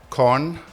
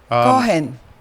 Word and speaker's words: Cohn: Her name is Cohn. Did I pronounce that correctly? Cohen. Cohen? Okay. Cohen. But K-O-H-N, right?